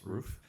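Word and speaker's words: Ruf: which is why they're spelled rough but pronounced roof um so uh seems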